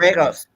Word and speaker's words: Tragos: And it's Luthez and George Thangos, as my pronouncing Oh, that. okay. Yes. Tragos, I think. Tragos.